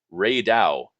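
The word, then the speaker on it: Rey Dau: Archetempered Ray Dow." Am I pronouncing that right?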